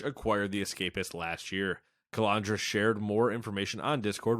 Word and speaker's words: Calandra: of its editor-in-chief, Nick Calandra. I almost said Calandra. Calandra is what? I went to school with someone with the same name, and they pronounced it Calandra.